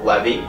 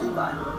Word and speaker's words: Levi: This is a question for Levy. So, Levy, That's not the same name. I mean, it's... That's how it's spelled. No, it's pronounced Levi, like the jeans.